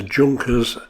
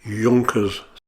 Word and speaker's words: Junkers: this aircraft is a junkers ju-88 but it's actually pronounced Yonkers this aircraft is twin